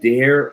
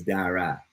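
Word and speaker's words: Daire: Someone's asking, is it Dare or Dara? It's Dara. Even though it's spelled D-A-I-R-E, which means O in Irish.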